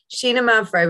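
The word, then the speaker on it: Xinomavro: And it's a good, particularly if you've got friends over, Sheena Mavro, which is spelled with an X, Greek variety, particularly produced in the Nausa region of Greece.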